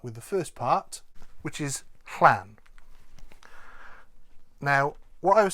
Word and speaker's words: Llan: A lot of people will try to pronounce that clan because they think that's closer to Llan. But generally speaking, it's actually better, if you can't quite get that, to pronounce it as a double L in English and just say Llan.